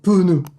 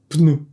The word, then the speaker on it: pneu: la France et plus ce mot va devenir : “pe-neu”. Parce que dans le Sud, on aime bien ajouter des -e dans les mots. Mais si tu veux le prononcer correctement : pneu.